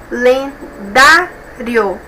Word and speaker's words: calendário: as sílabas dessa palavra calendário pessoal é a penúltima sílaba que a mais forte e observe que eu